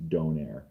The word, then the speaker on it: donair: It's a variant created in Halifax, Nova Scotia, in Nova Scotia, so it's pronounced donair.